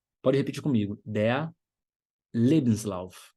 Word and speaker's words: Lebenslauf: Lebenslauf. Pode repetir comigo. Der Lebenslauf. Sílaba tônica é a primeira, e fica em cima do primeiro E. Le.